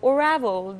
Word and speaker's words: Oravel: OYO, and I was as reading your article, Oravel, that's how you pronounce.